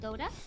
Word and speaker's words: Dota: I think it's pronounced Dota. Oh my gosh. It's called Dota.